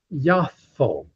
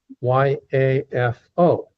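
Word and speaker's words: יפו: And today in Hebrew, it's actually pronounced Yafo. Y Afo.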